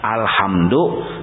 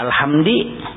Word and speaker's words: alhamdu: Tak ubah, harusnya alhamdu dibacanya alhamdi.